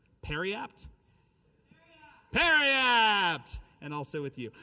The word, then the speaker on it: periapt: Am I pronouncing it correctly? Periapt?